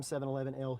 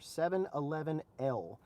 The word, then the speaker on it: 711L: I even checked with the rep from 711L who sent me these, and he says that is exactly how you say it. Let me see if I can get it here. 711L.